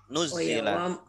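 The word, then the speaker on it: نُزِّلَ: Nuzila. Wa huwa manuzila minas sama'i. Manazal. Ya, boleh. Manuzila juga boleh. Manazala juga boleh. Oh, gitu ya? Kalau ditasydid berarti bacanya nuzila. Kalau tidak ditasydid berarti nazala.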